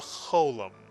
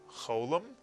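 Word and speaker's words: חולם: Both are pronounced O, cholam, and in Israel, the cholam tends to be pronounced more as an O than an O, but for our purposes, either one is acceptable.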